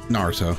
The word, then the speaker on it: Naruto: It's Naruto. Now, how do you pronounce his dad's name?